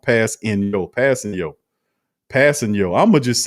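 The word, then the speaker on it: Kpassagnon: Ramsey says, hey, Q, Tanu's last name is pronounced Passing Yo.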